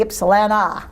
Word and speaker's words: Ypsilanti: Ypsilanti. Ypsilanti. All right. See, when I see Ypsilanti, I say I spell it I say it the way it looks, but you say Ypsilanti.